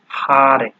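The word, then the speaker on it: Haare: ঠিক আছে, মানে একই সেন্টেন্স দুইবার যখন পাবেন, তো সেই সেই সময় আপনার উচ্চারণটা একটু টেনে পড়তে হয় আমাদের। ঠিক আছে, যেমন এখানে আছে হারে।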